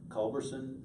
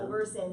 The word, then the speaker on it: Culberson: Culberson, no T. No T. No. Culberson.